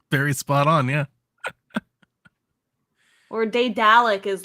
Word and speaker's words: Daedalic: I don't know how to pronounce this developer name. Daedalic? Is that how you say it? It's Daedalic. Daedalic.